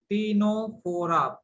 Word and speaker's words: Ctenophora: Here C is silent. Ctenophora, Phora, Ctenophora.